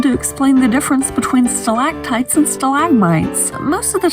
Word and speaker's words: stalactite: explain the difference between stalactites and stalagmites. Most of the time you'll hear it this way, but that doesn't solve one key issue. My pet peeve of people pronouncing them both with a G.